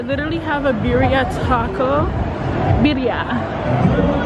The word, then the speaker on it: birria: Birria is how you say it correctly, but they have a birria taco truck.